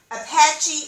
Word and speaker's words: Apache: apache apache excuse me apache indians is apache or a psn paul a c-h-e is pronounced apache apache so i wanted to